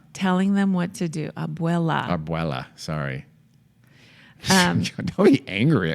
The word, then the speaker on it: abuela: They also had a recording of their grandmother in her own voice Arbuea? telling them what to do. Abuela.